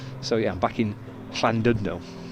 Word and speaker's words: Llandudno: point no run yeah they do silly things with double L's and Double D's and things don't they and but London